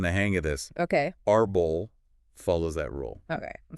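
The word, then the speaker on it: árbol: So the word arbol, Arbol.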